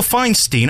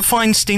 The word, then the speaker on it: Feinstein: It's called All About Me and Michael Feinstein. I want Feinstein, not Feinstein. It's Feinstein. No, but I prefer Feinstein. It's easier for me to deal with. Well, the name is derived from German and uh it's the